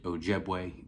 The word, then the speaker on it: Ojiegbe: We signed three guys, Tomarrion, TJ Parker, David Ojiegbe is how you pronounce his last name, and then AJ Hoffler.